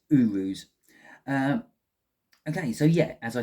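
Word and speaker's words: Uruz: I want to say Uras, something like that. But I will just double check in my book to get the pronunciation just right on that. I was so close. It's Urus.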